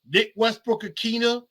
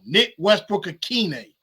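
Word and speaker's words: Nick Westbrook-Ikhine: Chris Moore, Nick Westbrook-Akina, I always say his name wrong. Nick Westbrook-Akine.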